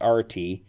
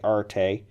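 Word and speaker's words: aretē: Arte or RT before I guess the correct pronunciation is RT my inclination is to say Arte but let's go with rt I'll try and pronounce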